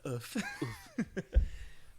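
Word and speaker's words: œuf: Do you know that's how you say the French word for egg? No way. Yeah, it's pronounced oof.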